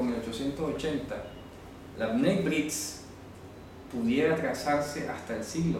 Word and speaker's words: Bnei Brit: Ustedes pueden encontrar en internet pronto a través de la pronunciación en inglés como Bnai. Puede aparecer así en internet. Bnei Brit. Algunos colocarán Beritz, etc. La pronunciación como la escriban puede variar en inglés, pero esta es la pronunciación estándar en español.